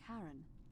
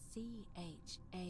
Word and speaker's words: Charon: It's just as you described it, only your pronunciation is a little off. The name you heard wasn't Karen. It was C-H-A-R-O-N.